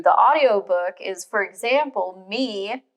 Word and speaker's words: Miv: audiobook is, for example, Mi, which they pronounced as me in the audiobook, is spelled M-I-V. And I think if I, were to try and pronounce that without the audiobook, I probably would have said Miv or Meev.